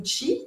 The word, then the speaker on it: qi: directement sur les méridiens qui vont qui sont donc si on peut dire ça comme ça des tuyaux qui vont conduire notre énergie notre qui ou tchi comme on veut on le prononce comme